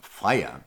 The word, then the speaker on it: Freya: sex and war and her name is actually pronounced fire how do i know this because i happen